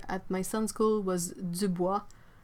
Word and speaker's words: Dubois: can see it right Dubois no no we say the boys like it's written dude stop it oh